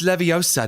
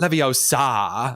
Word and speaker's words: Leviosa: So Trump is still Voldemort and everyone else is I guess Hermione Granger going um it's Leviosa, not Leviosa. You're saying it wrong.